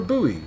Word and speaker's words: buoy: Or a buoy, as it's sometimes pronounced. I prefer boy.